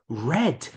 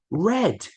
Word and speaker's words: read: tense is not read we pronounce it as red just like the color read red do you understand c